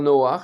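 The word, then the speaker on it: נח: C'est comme dans Noak. Comme dans Noach, exactement, Noé s'écrit Noach.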